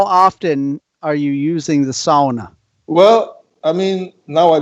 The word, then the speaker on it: sauna: So, really quick, talk to me about the sauna. How do you say sauna properly? Sauna in Finnish. Sauna. Yeah. You guys say sauna, but it's the same.